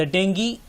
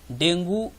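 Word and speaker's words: dengue: द डेंगी fever is spread by. इसके options हैं Aedes aegypti mosquito, common house fly, Anopheles mosquito और rodents like rats and squirrel. डेंगू Hindi में वैसे pronounce करते हैं, अंग्रेजी में इसी शब्द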